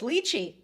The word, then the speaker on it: lychee: Lychee is commonly pronounced 2 ways. Lychee, popular in the US, and lychee, closely to Cantonese and British pronunciation. Both are acceptable.